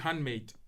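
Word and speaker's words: HVNDMXDE: e dot co dot u k and it's pronounced handmade so h v n d m x d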